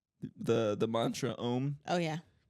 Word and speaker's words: Om: M the the Mantra om oh yeah so it's spelled om M but you're supposed to say it like a u m in like the most relaxed way like like that that's